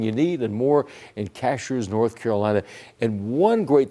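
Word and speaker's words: Cashiers: May be spelled this way, but it's pronounced Cashers. Cashers, North Carolina.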